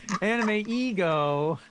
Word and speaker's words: AnimEigo: And also, I've noticed that people don't know how to pronounce it. No, AnimEigo.